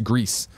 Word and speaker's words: Gris: is main sorry Greece I've heard the people who work on that game call it Gris and then bla no Grizz then Blanc he says gris-gris is actually pronounced Greece not Grizz and the South's just